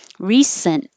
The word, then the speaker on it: recently: t and the l so don't say the t recently your tongue goes up for the n hold it there because it's the same position as n t l